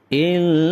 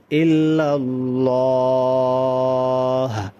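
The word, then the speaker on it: إلا الله: অনেকে দেখবেন আযানের সময় ইল্লাল্লাহ এই যে এভাবে গুন্না করে এখানে কিন্তু কোন প্রকার গুন্না হবে না যদি শুদ্ধ আযান হয় তাহলে ইল্লাল্লাহ স্বাভাবিকভাবে উচ্চারণ করতে হবে।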